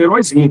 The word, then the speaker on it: heróizinho: A mesma coisa para heróizinho, ó. A sílaba tônica em herói é o rói. Só que em heróizinho, o heróizinho é o zi. Então, a sílaba tônica em heróizinho é o zi.